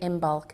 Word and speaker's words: Imbolc: organizer for imul well imul or imol as some people um pronounced it uh comes from